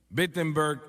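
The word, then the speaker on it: Wittenberg: Alemania Oh no perdón empiece con una W pero se pronuncia como una B BBG Alemania y clava sus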